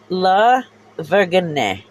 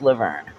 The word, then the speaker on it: La Vergne: literally sit there and hear jeremetha try and pronounce Laverne La Vergne or burgundy like you know that's how he pronounced it before somebody said no dumbass it's Laverne it's going down and